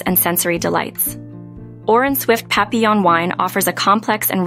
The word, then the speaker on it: Papillon: to pronounce papon is papon embracing its French heritage and uttering its name